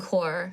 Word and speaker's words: Corp: I've been calling them core. Core, Like a Harps silent Core. P. I don't know. Silent It's spelled Harps Corp.